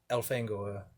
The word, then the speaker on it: Elfangor: I'm saying that I feel like the last name Fangor, you wouldn't. There's no other way to pronounce it other than Fangor, Yeah. which I think proves that you're right with the pronunciation of Elfangor being Elfangor.